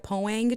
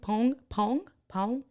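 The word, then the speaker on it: Poäng: Pong. Do any of you guys know how to pronounce it? It's the P-O-A, but it has the 2 dots over the A-N-G. So I've always said Poang chair, but it's one of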